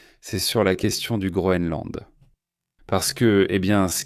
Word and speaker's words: Groenland: Groenland, non, parce que parfois on le prononce mal, mais c'est bien Groenland avec un N.